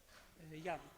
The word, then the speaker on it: Jan: floor uh Yan pinski Jan or Yan sorry not quite sure about the pronunciation okay the floor is yours yes the green one yan yan is good morning everyone my name